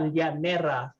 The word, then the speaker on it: llanera: And for those who speak Spanish, in the Tagalog language, we pronounce the double L's as an LY instead of just a Y.